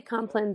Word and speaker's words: compline: So people say it both ways. I say compline, but a lot of people have said, people have asked me that.